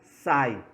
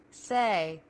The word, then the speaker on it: say: não sabe como pronunciar, talvez você pronuncie ela como sai. E se você pronunciar ela como sai, um nativo nunca vai te entender, ok? Então, você vem aqui no Google Tradutor e checa a pronúncia, que você vai ver que significa Say. say.